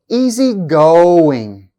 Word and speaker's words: easygoing: Compound adjectives and compound verbs have stress on the second part. Listen to the examples. Easygoing, easygoing. Ill-treat, ill-treat.